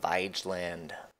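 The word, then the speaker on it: Vigeland: out the sculpture park in Oslo it's called vyj land looked up the pronunciation on that a lot of sculptures of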